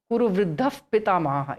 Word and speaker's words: Kuru Vriddha Pitamaha: Kuru Vriddha Pitamaha is pronounced Kuru Vriddha Pitamaha.